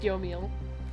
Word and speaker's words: Yomiel: It's pronounced Yomiel.